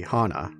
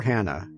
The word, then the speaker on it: Hana: the ringleader the three Hana or Hannah the game jumps back and forth between how it's pronounced depending on which character says it my name is a